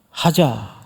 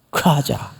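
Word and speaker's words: חזה: 들으면 외우기 되게 쉽습니다 히브리 말이지만 따라서 합니다 하자 왜 이게 봤다는 뜻이에요 하자 그런데 원래 히브리 정통 발음대로 하려면 그 앞에다가 들릴 듯 말 듯 가자 이래 이게 정통 발음이에요 과자 근데이 큰 자를 이렇게 세게 안 합니다 아주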